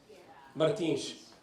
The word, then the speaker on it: Martins: I think I heard before somebody said Martins. Portuguese, really? Martins? Martins. No, I didn't change it. It's actually how it's spelled.